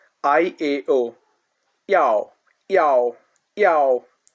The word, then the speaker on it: yao: Yow, yow, yow. It sounds like yow, yow, yow. Just like a cat says meow, yow, yow.